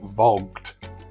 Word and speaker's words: Voggt: the UK is and I'm reliably informed that it's pronounced vogged I don't really know